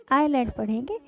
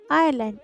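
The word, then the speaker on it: island: this IS एंड आयरलैंड इस मुए silent होता है तो इसे इस लैंड पढ़कर आयरलैंड आयरलैंड आयरलैंड का मतलब होता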